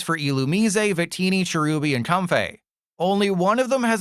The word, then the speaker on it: Comfey: Well, to be fair, most people call it Comfey and not Comfey.